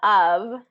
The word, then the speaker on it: of: or listen to it the word of is spelled off off if you were looking at it phonetic you know with the exact spelling and off would be the pronunciation but we don't say off we say of so it's more you